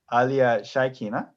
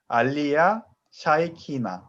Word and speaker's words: Alia Shaikina: Her name, Alia Shaikina. If we, you know, put that into syllables like we did, it's going to be al, li, ya, sha, i, ki, na. Together, Alia Shaikina.